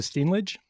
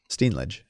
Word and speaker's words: Steenlage: It's actually, we pronounce it Steenlage. Steenlage.